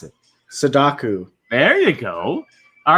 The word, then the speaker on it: Sadako: And however you say her name at the bottom, I want you to try to pronounce it. Sadaku.